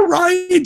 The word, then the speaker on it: Rian: I keep saying it's Rian Johnson because I've been told it's pronounced Ryan Johnson, so sorry.